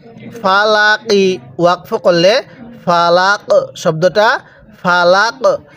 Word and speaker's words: ফালাক: বলুন কুল আউজুবি রব্বিল ফালাক হ্যাঁ আরেকবার আমার সাথে বলুন কুল আউজুবি রব্বিল ফালাকটা উচ্চারণের সময় গলার মধ্যে হালকা ধাক্কা দিয়ে পড়বেন কারণ কফটা হলো কলকলার তাহলে কিভাবে পড়বো আউজুবিল এরকম